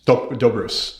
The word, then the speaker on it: Doe Bruce: my pleasure so last name pronounced docus dobrus sorry yes do like jindo and bruce like i should have had